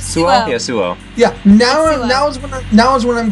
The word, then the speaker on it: Suo: Yeah, Suo. Yeah, now is when I'm going to be mispronouncing names.